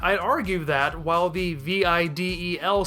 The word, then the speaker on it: Videl: carelessness or by choice treat it as a straight anagram speaking it as Videl with emphasis shifted to the end of the word it sounded weird